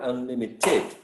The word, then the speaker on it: unlimited: what do you think i think the stress is in the second level i mean unlimited okay